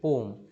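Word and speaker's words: poem: ম জেনারেলি সবাইকে এটা পোয়েম বলতে শুনি আসল উচ্চারণটি হচ্ছে পোম was French পোয়েট from the nine century তিনি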